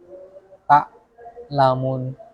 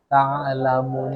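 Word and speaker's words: تَعْلَمُونَ: Memutus suara ain saat membacanya dalam kondisi sukun. Contoh, tak lamun. Harusnya ta'lamun. Ya, jadi ain.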